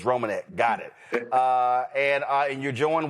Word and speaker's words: Reimonenq: First of all, did I pronounce the name right? What's the last name? It's Reimonenq. Reimonenq.